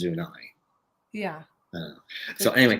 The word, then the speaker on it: Zuni: Zuni is Zunai.